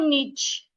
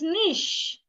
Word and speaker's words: niche: Niche. It's not niche. It is niche.